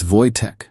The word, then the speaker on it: Wojtek: My name's not that hard to pronounce. See, that's exactly what I mean. It's Wojtek, but Americans hear it wrong.